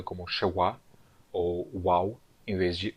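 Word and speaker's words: שְׁוָא: Agora, lembre-se que em hebraico eu chamava essa letra aqui, o shevá, de shevá, com um V aqui, não um W. Né? Por que eu escrevi um W aqui? Bom, porque em aramaico eu vou pronunciar o vav como uau. Então, na verdade, em aramaico, a letra, aquela letra reduzida que nós conhecemos, aqueles 2 pontinhos, né, embaixo de uma consoante, será chamada de shewá.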